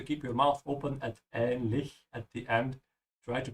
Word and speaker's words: ähnlich: Remember, the CH at the end is the German CH. You have to keep your mouth open at ähnlich at the end.